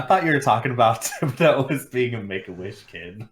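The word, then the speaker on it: Thibodeaux: Thibodeau. Say it with me, Tib. Do.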